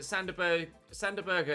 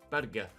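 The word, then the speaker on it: Sander Berge: Berge. So it is a hard G, not like a Berge.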